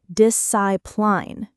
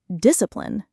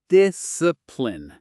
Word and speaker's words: discipline: The most common mistake is putting the stress on the wrong syllable. People sometimes say discipline, with the emphasis at the end. But the correct stress is discipline. The first syllable carries the weight. Discipline. And that last syllable is really short, almost swallowed. Exactly. The final syllable is reduced. It's not a full pline, it's more like plin.